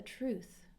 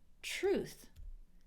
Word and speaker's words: truth: little bit that's the truth and keep in mind T before R sounds like a CH truth truth that's the truth the